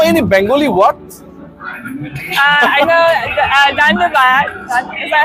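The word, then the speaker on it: ধন্যবাদ: I know Dhanbad. Is that how you say it? No, thank you. Dhanbad. Thank you. So thank you. Dhanyabad to you as well for your precious time.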